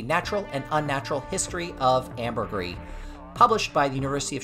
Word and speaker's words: ambergris: to stop you amber it's ambergris ambergris okay or or ambergris depending on where you are but you definitely pronounce that last s um you went with